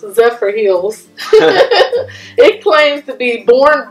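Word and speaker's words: Zephyrhills: we lived in Michigan zillis but here is pronounced zepher Hills it claims to be born better um it's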